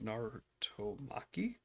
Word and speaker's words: Narutomaki: Narutomaki?